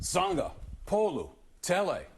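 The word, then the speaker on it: Sagapolutele: In Hawaiian pronunciations, you pronounce every vowel. Every vowel. So just, you break it up. Sangha, Polu, Tele.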